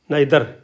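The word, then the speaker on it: neither: न आई तोय क्या बोल गया नाई नाई नादर नाई टीच आर दर नादर नादर बन गया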